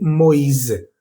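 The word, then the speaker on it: Moïse: Ya no va a ser wa, sino o i. Por ejemplo, en el nombre Lois o también en el nombre Moisés. En francés se dice Moiz.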